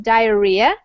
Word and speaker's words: diarrhea: dying every year from diarrhea so Dia the pronunciation is diarrhea and diarrhea is when you're going poop but